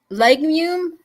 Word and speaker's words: legume: Legume. Legume. Legumes. Legumes. Thank you. Okay. See, I learn something every day. My pronunciation is not the best, but you know,